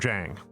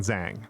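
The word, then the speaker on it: Zhang: pronounce an X as an SH or they pronounce a Z as a J. That's a really big one. the the jiao and jang.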